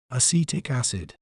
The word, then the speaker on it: acetic acid: We may pronounce it as acetic acid. Acetic acid. C-tic. Acid.